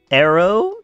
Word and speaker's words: Arrow: You want Arrow to be like the way that I call you? Pronounce it like air, then AO. Air.